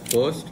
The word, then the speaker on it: FIRVT: हाँ, we pronounce it as first, but जो आप बोल रहे हो वो भी सही है।